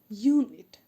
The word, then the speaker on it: unit: and the next example a unit so again the sound is of y and the same way